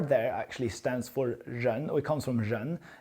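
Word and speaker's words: 人: It's RMBB and the R there actually stands for Jean or it comes from Jean. The RMBB actually the full word in Chinese would be Jean Bi and that would be the people's money.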